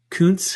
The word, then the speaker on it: Kuntz: And then they took Zach Kuntz, however you decide you want to pronounce it. I was waiting for you to get to that one. Yes. And he was the number 1. You went with the soft U to start. Good job.